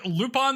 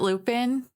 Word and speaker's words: Lupin: uh they also animated lupon theii you may have heard of it you don't pronounce it Lupin Lupin lupon I thought about naming